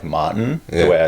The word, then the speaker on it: Maartin: of the um like when you actually pronounce my name like so in south africa like ours are really strong yeah so when i introduce myself it's like martin yeah so that's how we say yeah and so what